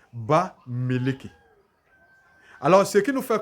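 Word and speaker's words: Bamiléké: Dans la prononciation, on va dire Ba Meleke.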